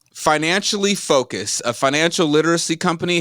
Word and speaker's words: FinanciALLI: of is now Ally how do I pronounce this right is it Financial Ally I mean you say I say financially it's just spelled like a l l I like my name love